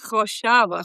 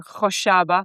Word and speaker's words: Khoshaba: Khoshaba. Yeah, now you got to say it the Middle Eastern way. How do you say Khoshaba? You have to get the phlegm going. Oh, gosh. Khoshaba? Khoshaba.